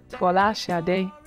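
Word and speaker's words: Folasade: My true Nigerian name, or the true Nigerian pronunciation, or as close as I can get to it, is Fola Sade, which means crown and glory.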